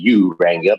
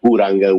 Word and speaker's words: Uranga: Well, you pronounce it the anglicized way, Uranga, but it's Uranga with the Spanish pronunciation, but that's okay.